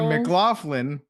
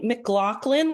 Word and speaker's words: McLaughlin: I was like, "Oh, I'm the I've been for years saying Mclofflin." It's Well, it's technically Mclaclin like the gun like Oh, so both of us have been saying it wrong.